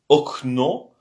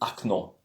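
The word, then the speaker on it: окно: Il faut savoir que la lettre O, des fois, est prononcée comme un A. Quelque chose entre le O et le A. Par exemple, c'est okno, mais on dit acno.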